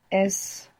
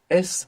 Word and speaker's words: es: es normal es normal and you pronounce the NES which is excellent English speakers should be aware that maybe they feel themselves pronouncing a zed because many times we have an s in English like in the word is and we pronounce Zed so you might find sleeping out as but this is incorrect you should be careful to pronounce an s s normal good how